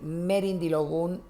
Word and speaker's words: merindilogun: Decir merindilogun es decir erindilogun. Decir erindilogun es decir merindilogun. Porque en el yoruba estándar en el que se enseña el número 16 no se dice merindilogun, se dice erindilogun.